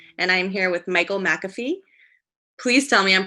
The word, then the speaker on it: McAfee: Bolton access television and I'm here with Michael McAfee please tell me I'm pronouncing your name right Michael it's McAfee yes perfect okay so um he's a local